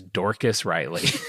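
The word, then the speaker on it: Dorcas Reilly: Her name is Dorcas Riley.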